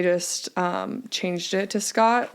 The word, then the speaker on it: Skjodt: name because it's got to be the most mispronounced name I want to confirm it's Scott right yes okay I was like I hope